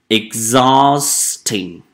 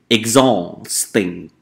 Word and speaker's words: exhausting: The next one, we have the word exhausting. So this one, we don't pronounce H sound. Exhausting.